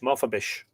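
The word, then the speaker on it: Mofebis: Maf I presume the the S it would be pronounced S sh H. Mafabish was sent for to Mave.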